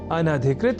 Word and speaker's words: अनधिकृत: ही शब्द की ओर जिसके लेखन और उच्चारण में हम सामान्य रूप से अब अधिक अशुद्धि करने लगे हैं, और वह शब्द है अनधिकृत, जिसे अनाधिकृत इस रूप में न केवल लिखने की ही अपितु बोलने की भी प्रवृत्ति या कुप्रवृत्ति बढ़ गई है।